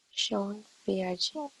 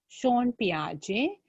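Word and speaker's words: Jean Piaget: How to pronounce that? Sean Piaget. Yeah, Jean නෙමෙයි J තිබුණාට Sean. Sean Piaget.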